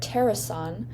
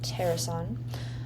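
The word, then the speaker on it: Taerson: And I heard Terasan kind of uh spelled like T A E R S O N. Ter Terasan.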